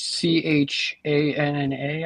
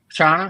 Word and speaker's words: Channa: It's CHANNA, I think, is how you say it. Chana.